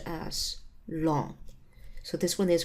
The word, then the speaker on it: ln: expressed by Ln X so this one is pronounced as long so this one is called long X so the inverse of the natural exponential